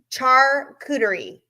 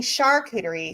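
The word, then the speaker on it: charcuterie: 10 cast strength okay John Cloud says it's pronounced Char cterie okay well I think I was saying Sherie so Char cerie I was close I was close all right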